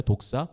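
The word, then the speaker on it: δόξα: 우리 한글로 이 발음하기 안 좋잖아요. 독사. 그 독사, 뱀 이 독사 아니고 영광, 헬라어 독사입니다.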